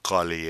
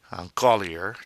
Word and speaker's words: collier: shop in boutique on colley a necklace ah golly a the r is silent at the end of the word that a sound ER and Koli it's not on caller Collier no it's a holy